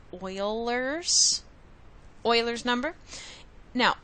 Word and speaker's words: Euler's: going to talk about is what's known as Euler's number and that's how you pronounce it kind of sounds like wailers Euler's number now Oilers number is approximately 2.71828 it's another really important